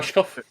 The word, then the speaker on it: Rushkoff: I don't know how to pronounce the last name. Rushkoff?